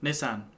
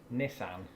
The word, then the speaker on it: Nissan: Aha, again, not a sponsor Nissan. video, Nissan. That is the silliest pronunciation. No, it isn't. Look, it begins with N-I-S-S, Nissan. which, It's a that's Nissan.